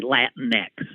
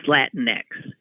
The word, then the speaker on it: Latinx: When I first saw it, I didn't even know how to pronounce it. I thought Latinx? What is that? Then I heard, thank God, somebody say Latinx. Oh, it's Latinx.